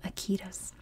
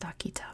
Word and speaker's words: Akita: If you haven't seen, in America we call them Akitas. It's pronounced Akita, but the dog in American English is Akita.